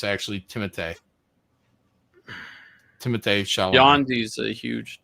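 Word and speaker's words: Timothée: You don't say Timothy Shalomé. It's actually Timote.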